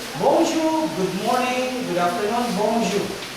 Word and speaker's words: bonjour: For example, if I say bonjour, good morning, good afternoon, bonjour. Bonjour, did I say pronounce that as bonjour?